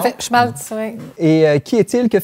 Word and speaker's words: Schmalz: Est-ce que je prononce bien son nom? Tout à fait, Schmalz, oui.